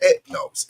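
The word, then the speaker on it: ἔθνος: against Nations that go that word again ethnos in the Greek is is pronounced ethnos and this where you get ethnicity from and so on and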